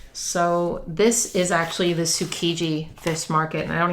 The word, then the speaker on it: Tsukiji: I thought it was Tsujiki. I probably said it wrong in my video, but it's Tsu- Kiji.